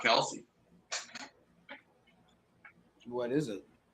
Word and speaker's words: Kelce: I thought the name was pronounced Kels, and I kept saying Kels, and then like people on like ESPN started saying Kelsey, and I'm like, well, that's not how you pronounce it. You guys are stupid. And then everybody just kept doing it. I guess I'm the stupid one. No, it turns out I was right.